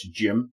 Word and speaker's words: GM: so I've got here the powered GM or sometimes pronounced as gy and we also have